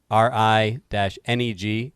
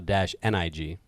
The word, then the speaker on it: renege: well, when they put out the phonetic spelling, they give two, RI-NEG, comma -NIG. So perhaps it is pronounced both ways.